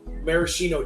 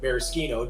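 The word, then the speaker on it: Maraschino: cordials with the actual Marishino cherry or Mariscchino depending on how you pronounce it.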